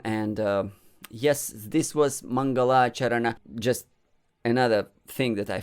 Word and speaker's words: Maṅgalācaraṇa: forgot in the beginning mangala charana it's not mangalacharan it's on mangalacharana it's mangala charana there is only one long ah all others are short so don't go into